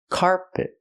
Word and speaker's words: carpet: I cannot stress both syllables. I stress the first syllable. So it's carpet. The second syllable is not stressed, it's closed and relaxed.